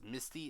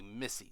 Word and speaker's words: Missy: we go and I think I may have pronounced her name as Misty it's actually Missy so that is my bad what happened to